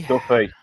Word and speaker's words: Duffy: name is Duffy.